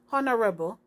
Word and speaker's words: honorable: it begins with o honorable which sound like it begins with o okay let's continue guys